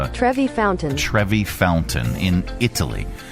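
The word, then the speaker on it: Trevi: Around $4,100 worth of loose change is thrown into the How do you pronounce that? It's Trevy Fountain.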